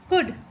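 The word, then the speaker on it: could: ओ यू एल डी कुड कुड ठीक है सी ओ यू एल डी को हम कुड पढ़ते हैं यहां पर एल साइलेंट है कुड का मतलब मतलब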